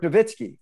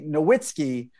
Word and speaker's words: Nowitzki: german guy uh dirk nowitzki i used to always say nowitzki but you pronounce the w as a v look at that and